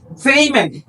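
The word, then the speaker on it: payment: প্রদান করাকে বলে পেইমেন্ট এটাকে আমরা বলে যে ফেমেন্ট বলি আমরা বলে থাকি যে ফেমেন্ট কিন্তু এটা ফেমেন্ট ভুল এটা শুদ্ধ উচ্চারণ হবে ফেইমেন্ট এখানে আট নাম্বার যে শব্দটি রয়েছে এটাও আমরা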